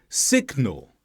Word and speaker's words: signal: compare with these words signal dignity here we have G followed by n but we do pronounce the G because the G comes at the end of one syllable and the N starts